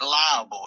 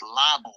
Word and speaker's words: libel: It ain't liable. It ain't liable. Dumbass. It ain't liable. It's libel. Ernie, go play in traffic, please, sir.